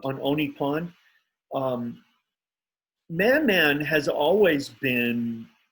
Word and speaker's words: On Oni Pond: carryover from on Oni Pond, how do you pronounce it? On Oni Pond. On Oni Pond.